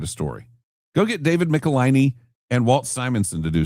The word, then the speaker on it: Michelinie: But Roy Thomas and Howard Chaykin, David Michelinie and Walt Simonson. And by the way, it is pronounced Michelinie.